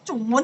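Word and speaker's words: 中文: Kok Zhongwen bacanya Chungwen sih gimana?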